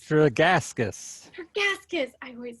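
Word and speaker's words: Tregaskis: incorrectly can you help me out it's not trigginski it's for gaskis her gaskets i always say it wrong thank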